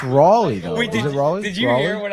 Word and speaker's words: Raleigh: family at times uh but but so it's Raley Ry I don't know why I always said